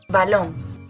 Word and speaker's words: balón: Por ejemplo, balón. Balón lleva el golpe de voz en la última sílaba, en la última vocal.